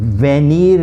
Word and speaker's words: venir: In most countries they are pronounced like B's, okay? So for example, if you're saying venir, many people say venir.